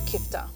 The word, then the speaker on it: kofta: So we will be making beef kofta, or as we say, beef kifta. Kifta. Yeah. Okay, beautiful. So different pronunciations.